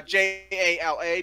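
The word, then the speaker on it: Jaller: of why the names changed Jala became uh j-a-l-a became j-a-l-l-e-r it's still pronounced Jala which looks like jawler for some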